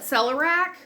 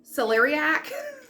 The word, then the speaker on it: celeriac: pronounce it wrong so i call it celerac but i think it's celeriac uh root it's celery